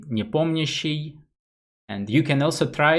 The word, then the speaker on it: Nepomniachtchi: usually they talk to nepo but for me it's quite easy to pronounce since i'm russian so we can just say nipomnishi and you can also try it to if you wish nippomneshi um so i was